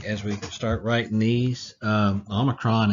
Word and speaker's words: Omicron: we start writing these Omicron is very easy it's like and it's pronounced like omelette au and and that's simply what it is just a simple oh just like that very